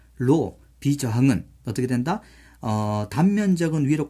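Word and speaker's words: ρ: 그래서 이 비저항을 기호로는 로라고 씁니다. 로. 그리스 문자인데 로, RHO라 적거든요. 로라고 읽어요.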